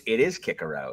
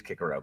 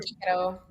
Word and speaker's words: Cicero: It is Kikero, but no one says it. And I'm also going to say Cicero. I'm not going to do that either. Cicero. Yeah. Yeah, there's no soft C in Latin.